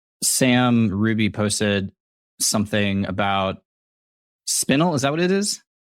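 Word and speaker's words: Spinel: Well, it's spelled S P I N E L, right? Sp I N E L. Yes. Cuz spinal is with an A.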